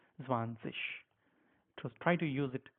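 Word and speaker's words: zwanzig: okay sometimes you say swanik or sometimes you say vanish at the moment you are in A1 so it's fine you can use them but however the right form is zanes so try to use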